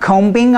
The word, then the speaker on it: combing: you need to because these words we do not say the bee and if you're learning English you may read the B and want to pronounce it but we are not combing our hair a person